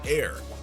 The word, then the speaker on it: Aire: And just in case you were wondering, Travis and Kylie both have confirmed that the name is pronounced Ayr, like billionaires.